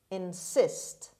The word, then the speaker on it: insist: today's lesson is insist insist insist the stress is on the second syllable on say sound insist